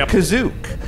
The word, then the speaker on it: Kashyyyk: And some people pronounce it Kazook, because in the Star Wars Holiday Special, it's pronounced Kazook.